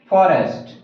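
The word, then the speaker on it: forest: जब भी आर से पहले कोई भी वोवेल आता है तो आर का प्रोनाउंसिएशन नहीं होता है, आर हमेशा साइलेंट रहता है। लेकिन कुछ एक्सेप्शंस हैं, जैसे फॉरेस्ट, फॉरेस्ट में आर हम लोग प्रोनाउंस करते हैं क्योंकि ये एक्सेप्शंस है।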